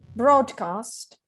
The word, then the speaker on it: broadcast: You know that the broad doesn't rhyme with road. Broadcast.